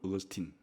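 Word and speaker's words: Augustine: 들어갈 수 있는 사람이 영어 발음으로는 어거스틴, 라틴어 발음으로는 아우구스티누스라는 초대 교부예요.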